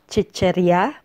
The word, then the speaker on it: sitserya: lang ako kumain ng sitserya lang is only kumain is to eat and sitserya means junk foods Please note that the word sitserya is usually pronounced as chicherya by native speakers paminsan Minsan lang ako